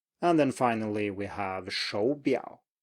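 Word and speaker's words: 手表: And then finally we have 手表, 手表. So you can hear that I go up, 手, 手, like a second tone, and then low, 手表.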